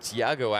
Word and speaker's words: Thiago: And Thiago actually got that tiger because the beach announcer in Indonesia back in 2008 couldn't say his name, and it sounded like tiger.